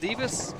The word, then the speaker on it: Divas: As she said, if it's pronounced Divas, if you said Divis, don't worry about it. Just don't call me Davis. Just don't add a don't take out an I and add an A.